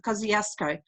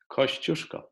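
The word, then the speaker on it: Kościuszko: Everybody pronounces it Kosciuszko. Please tell us how to pronounce it well. Kosciuszko.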